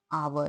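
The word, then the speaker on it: hour: आवर देखिए यहां पे जो स्टार्टिंग है स्पेलिंग की एच से है और एच क्या होता है ये कंसोनेंट है लेकिन इसका जो प्रोनाउंस होता है वो अ से होता है आवर यानी यहां किसका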